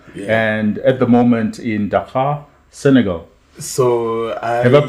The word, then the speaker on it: Dakar: Yeah, and at the moment in Dakar, Senegal. So have I pronounced it very, correctly?